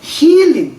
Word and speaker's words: healing: 그러니까 healing, 긴 발음입니다. healing, 치유하는 단어가 있을 테고 healing이 아니고 killing, 이건 단음입니다. 짧게.